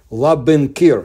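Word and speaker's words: Labynkyr: are haunted by Lake laen kir that's how it's pronounced correctly in the east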